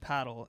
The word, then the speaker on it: padel: It's actually pronounced paddle.